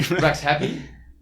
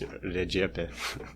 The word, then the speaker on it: Rexhepi: Rexhepi. Close, but if you would actually pronounce it like an Albanian language, I guess, it's Rexhepi.